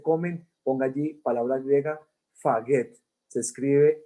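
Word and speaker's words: φαγεῖν: no comen, ese comen, ponga allí palabra griega, faget, se escribe F-A-G-E-T, faget, significa comer en griego.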